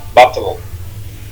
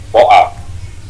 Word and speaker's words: bottle: Botol, orang Amerika bilang bottle, kalau orang Inggris bilang boa. Misalkan a bottle, sebotol air, a bottle of water gitu. Sama tulisannya kan ya, cuma pelafalannya beda. Kalau yang Amerika a bottle of water gitu ya. Kalau Inggris a boa of boa.